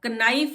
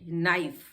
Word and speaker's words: knife: Silent हो जाता है, यानी कि KNIFE। अब कनाइफ नहीं बोलते हैं इसको, ये एन से पहले के आ गया है इसलिए ये साइलेंट है। नाइफ, नी घुटना हमारा, उसके